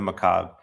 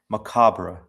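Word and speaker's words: macabre: Macabra. I used to pronounce macabra. Macabra. It's one of those words that you only read. You don't really say them. Um, because in in in Spanish you say macabro.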